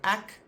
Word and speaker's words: ek: first language English speakers, they will say ek more like the phonetic pronunciation of But then you get people like myself who often say ak and not ek. So both are acceptable, both are correct.